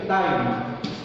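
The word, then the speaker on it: thine: THI डाइन, इसका pronunciation करेंगे डाइन।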